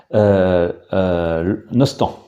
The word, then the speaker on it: Nostang: de cette rivière d'etel nostang nostang tel qu on le prononce selon la forme administrative et en breton love